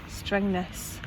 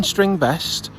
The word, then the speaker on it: Strängnäs: Strängnäs. I have googled Strängnäs? it. It is how it is Strängnäs.